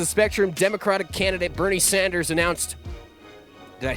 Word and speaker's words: Sanders: spectrum Democratic candidate Bernie Sanders announced did I say it right Bernie Sanders not Saunders it's not Larry Saunders Bernie Sanders just announced he would